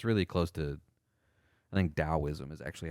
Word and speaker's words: Daoism: Towism became wellknown in the 8th century as a religion of the Tang Dynasty. So it's really close to I think Daoism is actually how it's prod pronounced with a